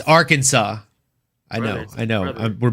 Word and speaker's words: Arkansas: Lane, this one I pronounced on purpose wrong. It's a southern thing from the south. You You know we call it our Kansas.